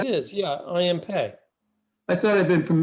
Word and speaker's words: I.M. Pei: I'm pretty sure it's pronounced Pei, even though it's p e i. It is. Yeah, I.M. Pei. I thought I'd been from mispronouncing it.